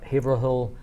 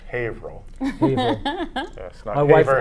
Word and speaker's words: Haverhill: the website for the haverhill library they're the ones handle handling the the event it's actually pronounced hey ro wiper know my wife tells